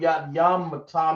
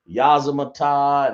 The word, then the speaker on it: Yamata: Anybody know what Yamata means? I see people in class saying Yazamata and Yadimata. This is the correct way to say it. Yamata.